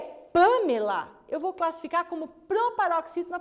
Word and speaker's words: Pamela: Pamela. O Lá é a última, o Me é a penúltima e o Pan é a antepenúltima.